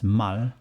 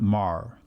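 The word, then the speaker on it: 말: in hangal mal so it has to be pronounced as mal not mar which is a typical foreign accent in hangul mal in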